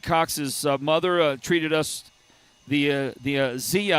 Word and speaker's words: Zia: And I mentioned that because Eric Cox's mother treated us the Zia, I believe it's pronounced Zia, Z-I-A, Zia Mountain Treats.